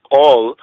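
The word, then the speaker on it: קול: Right, in the sense of Kal Kidan, new covenant or word agreement, word covering, and then we go to the Old Testament. We have Kal, or they would pronounce it as Kol, right?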